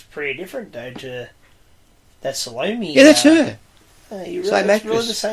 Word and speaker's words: Salome: Well, the lady who plays the figure of Salome, Chloe... Salome, isn't it? Yeah, sometimes they pronounce it Salome, is Chloe Jessup, who appears as the Atropos in Torture Garden with the shears.